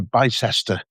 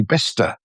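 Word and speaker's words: Bicester: You know there there's so so many I heard someone recently uh refer to to to Bice. Oh dear. Which is obviously Bister but there's there's so many like that and and and Leo Minster.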